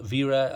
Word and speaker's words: Wera: so like i say it's the vera i mean it's german so this is just how they pronounce it so even though it